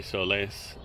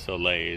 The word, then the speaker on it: Soleil: I used to say Soles, but I guess Soleil is the way to pronounce that, or also known as Birds of Sauté Nord.